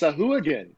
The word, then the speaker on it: Sahuagin: I'm pretty sure it's pronounced Sahuagin.